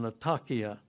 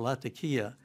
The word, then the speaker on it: Latakia: mission that was there in latakia or latakia whichever way you want to pronounce it i wanted to see